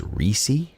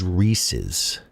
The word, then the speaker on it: Reese's: Are you trying to say it is pronounced Reissi cup? We Before we move on, I must know the answer to this. Trai. It is Reese's pieces. Reese's Peanut Butter Cup. Not Reesei.